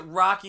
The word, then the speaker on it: Roque: But we pronounce it Rocky that's because gross. we hang in Chattanooga.